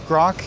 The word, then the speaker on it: Groq: grock why grock thank you Becky uh it's grock and we spell it with a Q and it's because it